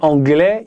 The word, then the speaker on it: anglais: Si tu dis anglais, ils doivent mettre le s mais on le prononce pas.